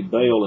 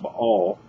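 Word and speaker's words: Baal: say by all or we say bail in the south but it's actually pronounced by all we're actually saying perfect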